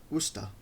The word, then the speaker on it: Worcester: It's then all west to Worcester, pronounced Worcester. Ah, it's Worcester. If it's pronounced Worcester, why not just spell it Worcester?